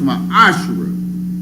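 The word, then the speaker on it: מעשר: and malachi 3 8-10 means 10th in the hebrew and it's pronounced my asherah it's the tenth of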